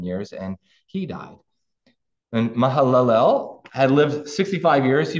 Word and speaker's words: Mahalalel: the father of Jared mahalalel lived after the birth of Jared 830 years and had other Sons and Daughters thus all the days of Mahal alel that was a better way to pronounce it were 895 years and